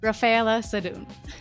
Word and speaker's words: Raffaella Sadun: I'm Raffaella Sadun, and today we have a very important guest, Raffaella Sadun. Welcome, Raffaella. Did I pronounce it correctly?